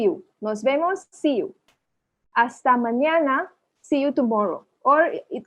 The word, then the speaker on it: hasta: hasta mañana, hasta, देखो H को silent, H हमेशा साइलेंट होना है, म्यूट कर देना इसको। hasta mañana, hasta luego, luego, luego, hasta luego, hasta luego, see you later, है ना?